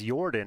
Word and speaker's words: Jorden: a high-level question yeah if it's yordan and not Jordan and it is Jordan uh-huh is his username